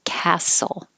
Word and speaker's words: castle: Somebody had Prague Castle as a phrase, and the T is silent in castle.